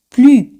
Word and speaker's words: plus: Pues acordáis de más, plus, plus. Siempre ese al final no se pronuncia.